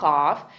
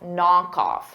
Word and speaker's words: knockoff: with bota b b knock the K is silent and off because they go together knock knockof it's one word I'm